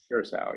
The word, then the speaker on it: Curaçao: Curacao, yeah.